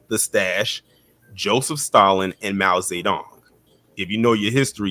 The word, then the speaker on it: Mao Zedong: Mao Zedong is the correct pronunciation. Mao Zedong.